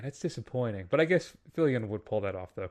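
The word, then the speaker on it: Fillion: is it fillian am I saying it wrong fillian yeah he's gonna because he's going to be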